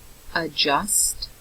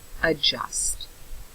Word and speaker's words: adjust: for the word adjust adjust adjust am I pronouncing the D adjust no you do not pronounce the D adjust okay so if you